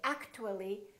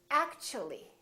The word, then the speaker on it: actually: again they change so when the T is followed by a you for example in the word actually we don't say act - we don't say actually the T becomes kind of a CH sound so we say actually actually so the T and you create a new sound and it sounds kind